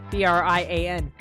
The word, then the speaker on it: Brian: Yeah, but it's spelled Brian. B-R-I-A-N. Brian. I've called him Brain as well before, though. Because look at him. He's a zombie. It's supposed to be a pun.